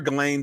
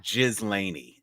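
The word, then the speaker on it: Ghislaine: I'm calling her Galain because that's how I heard it pronounced. I have sense from some BBC people heard Galain or Glain and But, you know, it's definitely not Jiz Laney. So, I'm going with Galain.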